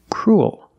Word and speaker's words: cruel: an extra little sound cruel like pool and cool example this boy is